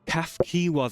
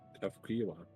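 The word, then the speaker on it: Cahciua: Kafkiwa, that's how you say it, okay. Kafkiwa.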